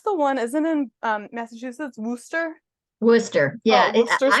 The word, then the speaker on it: Worcester: Isn't in Massachusetts, Worcester? Worcester. Yeah, Oh, Worcester I'm sauce. from Massachusetts. So yeah, so it's not Worcester because that's in Ohio. It's Worcester and it's spelled the same way. Worcester.